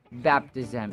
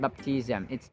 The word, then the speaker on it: baptism: baptism scrimp baptism baptism the stress is on the first syllable not on the second one It's baptism it's not baptism baptism This is also